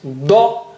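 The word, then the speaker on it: ض: So this is da, and the other one is dha. Both are very distinct. Don't mix them. Da with the right side of your tongue touching the right side of the gums.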